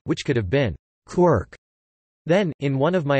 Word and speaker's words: quark: cry of the gull, was clearly intended to rhyme with mark, as well as bark, and other such words, I had to find an excuse to pronounce it as quirk.